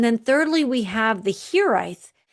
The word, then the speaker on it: hiraeth: thirdly, we have the Hiraeth. It has a Welsh spelling, but it's pronounced Hiraeth.